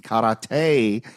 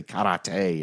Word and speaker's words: karate: In karate, I like how he can't say karate. He has to say karate every time. Have you Have you Have you seen Boogie Nights? Karate. You got to say it right.